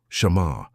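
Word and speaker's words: שָׁמַר: Pronounce it softly with me wherever you are. Shamar.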